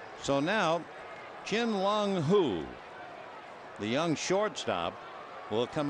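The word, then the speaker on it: Hu: so now chin long who the young shortstop will come up in Bat that last name is spelled h-u who tell you the truth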